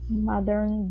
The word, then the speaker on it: modern: Modern buildings. Okay, give me a good D instead of modern. Okay, pull your tongue back.